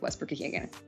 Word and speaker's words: Westbrook-Ikhine: So go with Nick Westbrook-Ikhine.